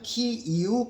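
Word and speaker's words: Київ: 하고 키우 공국이라고도 하고 우크라이나 식으로 발음하면 키 이후 공구 러시아 식으로 발음하면 키예프고 공국이라고 하는데 그 12세기 13세기에 그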